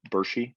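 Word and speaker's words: Burshi: I watched a little video of like when you went back to your village, Bershi.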